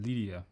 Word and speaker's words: Lydia: You know, Linda, I used to recommend that. Actually, I mispronounced that name, right? Lydia. What am I saying, Linda? Lydia.